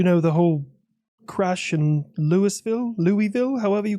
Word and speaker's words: Louisville: But I believe it's pronounced Louisville.